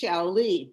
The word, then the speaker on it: Xiaoli: So I want to say spelling it does not help. If your name is Xiaoli, I mean, I didn't have any way of pronouncing that. It's Shaoli, but I didn't, so I